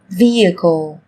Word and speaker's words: vehicle: Trong tiếng Anh cũng có một số từ mà cách viết chúng ta thấy xuất hiện chữ cái h, nhưng khi phát âm thì chúng ta lại không cần phải phát âm âm này, người ta còn gọi là âm h câm.